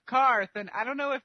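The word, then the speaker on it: Qarth: people to stop saying Quarth? Like, maybe? Because there's no U in it. It's like Q-A. So. Oh, I thought that it was spelled like Quarth, but, since they pronounced it Karth, I was like, why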